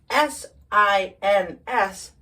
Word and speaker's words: sins: Then, S-I-N-S, sins. Sins. Sins is plural for sin. Sin. What sins? What sin? Sin is an immoral act. So the plural, sins, we make this Z sound there. Sins are immoral acts.